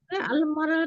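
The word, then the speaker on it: المرأة: আলমারা তো হয়। জি আল যোগ হয়ে যাবে। আলমারাতে হামজাটা উচ্চারণ হয় না, আলমারা তো হয়ে যায়। আচ্ছা যাই হোক ইনশাআল্লাহ। হামজাটা ড্রপ হয়ে যায়।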